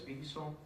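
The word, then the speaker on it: WSON: This is a VSON 8 package. There's a W, but we pronounce it as VSON, right?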